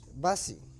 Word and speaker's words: busy: Tengo que cambiarle la U por la I, ¿no? Sí, es como, para que puedas pronunciar esta palabra, es como si dijeras bicicleta y le quitas el cleta.